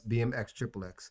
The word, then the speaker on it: BMX XXX: bmx triple x yeah it's pronounced yes bmx xxx yeah but again this